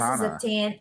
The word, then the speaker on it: Zatanna: Okay, this Zatanna. is Zatanna. I don't know how to pronounce his name.